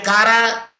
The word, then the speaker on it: CARA: And CARA C-A-R-A, Kara. Acronym. Acronym, because it pronounce in one word all the letters of the first words, and hence we can say it's the acronym.